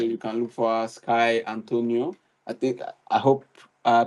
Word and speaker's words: Skye Antoniou: So you can look for her, Skye Antoniou. I hope I pronounce your name right.